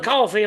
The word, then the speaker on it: Coffey: I'm Coffey, like the drink, only not spelled the same.